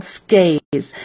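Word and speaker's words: SCAIHS: Independent home schools and they actually go by their initials which doesn't seem like it should be a word but it's pronounced like a word it's called skaz and so it's one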